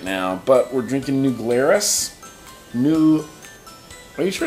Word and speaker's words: New Glarus: So yeah, I'm going to call New Glarus and ask them how they say it.